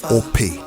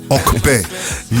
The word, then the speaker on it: Ope: So it's spelled O-P-E. Yeah. Pronounced O-K-P-E.